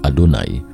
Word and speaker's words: YHWH: diketahui ia W atau yhwh diucapkan adonai yang berarti Tuhan dalam